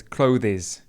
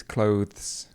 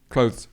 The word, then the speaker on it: clothes: Okay, now are some particular pronunciation problems, and it goes back again to this th sound.